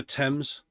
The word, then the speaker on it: Thames: It's the Thames.